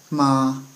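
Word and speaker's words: 妈: the ma said with the first tone sounds like ma ma it's uh high and flat and that word said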